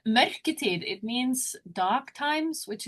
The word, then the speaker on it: mørketid: Like the others that we've interviewed they've asked us to pronounce it, but no, well, might as well stuff up. It's mørketid.